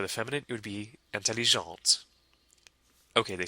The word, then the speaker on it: intelligente: So we add an E at the end to create the feminine form, and that makes the T at the end pronounced. So one more time, it's intelligent and intelligente.